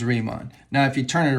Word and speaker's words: Riemann: math go owls so when you have this german phoneme i e you pronounce or e i you pronounce it with the long vowel of the second vowel so this is re mon i don't know how to pronounce bernhard i guess it's bernard but this is riemann now if you turn